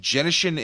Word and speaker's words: Genshin: Genshin. The hard like G. it, yeah. Hard G.